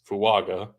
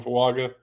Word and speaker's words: Fuaga: But he said traditional pronunciation, AG in the middle of a name is Ung.